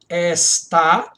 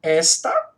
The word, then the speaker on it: está: Repare, ó. Está e não esta. E também e não também. Ó, também. As duas têm sílaba tônica no final.